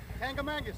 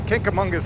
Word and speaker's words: Kancamagus: So we're gonna, okay, I'm gonna pronounce it. Kancamagus Lodge. How the hell do you say Kancamagus? Kancamagus.